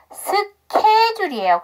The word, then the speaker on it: schedule: 주시면 되고요 스케줄이 맞아요 여기서 케이스가 h사운드가 묵음이죠 ch가 아니고 합쳐 발음 나는게 아니고 그래서 여기 그래서 스케줄이에요 그런데 S 사운드 뒤에 구성이니까